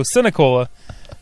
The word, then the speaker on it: Sinicola: And then she does mention that I did pronounce, although I can't pronounce her name correctly on the previous show, Sinicola, just like it's spelled.